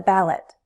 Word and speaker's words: ballot: Stress is on the first syllable. Ballot. Notice how an unstressed vowel sound is often a schwa sound.